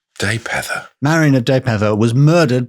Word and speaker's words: Dalpedder: Marion of Daypether, which is spelled Dalpedder, but I think is pronounced Daypether. Daypether.